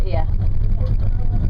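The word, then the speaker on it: Oia: o i a but it's not o it's like your ear the O and the i in the Greek alphabet are pronounced e okay so once we've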